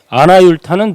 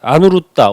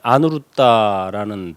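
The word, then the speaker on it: Anuruddha: 너는 어찌하여 지금이 모인 가운데 아나율타는 눈이 없는데도 보고음 아나율타 안누루따 원래 이제 아누루다라는 발음으로 읽죠루따 존자 그래서 안누루따인데 이제 한문으로 번역해서 그 한문을 다시 한글로 읽다 보니까 아나율타 또는 아나율 이렇게 읽죠 아나율은 부처님의 10대 제자 중에 뭐가 제일이죠 죠 천안제일이죠.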